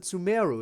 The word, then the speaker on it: Sumeru: Just how they pronounce it Sumeru instead of Sumeru. Everyone called it Sumeru, and then you arrive and it's like, actually it's called Sumeru.